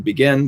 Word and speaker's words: Begin: Even then, Prime Minister Menachem Begin, it's written Begin, but it's pronounced Begin, had the courage to strive for peace.